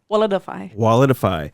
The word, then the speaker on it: Walletifai: Walletifai. Walletify.